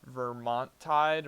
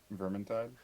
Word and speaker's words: Vermintide: they have warhammer uh what's it called warhammer vermontide vermontentide or something like that i don't know how to say it quite right but um huh vermintide vermintide thank you which is another just kind